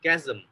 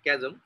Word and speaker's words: chasm: এই দেখো CHASM যে শব্দটা আছে এটা হচ্ছে ক্যাজম, চ্যাজম না ক্যাজম, ক দিয়ে উচ্চারণ।